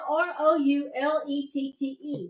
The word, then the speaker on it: roulette: It's spelled R O U L E T T E, but it's a French word. But it's pronounced roulette.